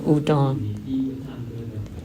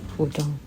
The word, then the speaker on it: udon: When I was young, I heard my parents said udon, udon noodle, udon. And the Japanese masters told me it should be pronounced udon. In Japanese. But my parents said udon. But udon should be the right way to say it.